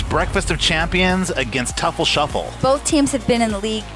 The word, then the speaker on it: Teufel Sheufel: here with mark from toofle shuffle tuffle shuffle i don't know how to pronounce it how do you pronounce your name it was pronounced tefl shuffle what does it mean